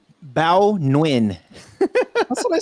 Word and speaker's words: Bao Nguyen: statement to the verge you say beau nugent i don't know how do you say that bao nguyen that's what i said